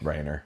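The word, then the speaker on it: Rayner: Rainer.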